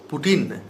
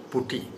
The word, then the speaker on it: putty: people general peoples are wrongly pronounced it as Putin. This is not Putin. This is actually Putti. So Masons also pronounce wrongly as Putin. We also pronounce wrongly as Putin. But actually the word is Putti. The technical term is Putti. So we must say Putti.